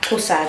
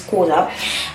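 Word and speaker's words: Xhosa: Kosa, it's not, I'm gonna say Kosa, but I know it's pronounced Kosa.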